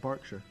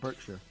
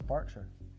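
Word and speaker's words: Berkshire: Do you know that's pronounced Barkshire? No. Instead of Birkshire. Thought it was Burkshire. No, it's Barkshire.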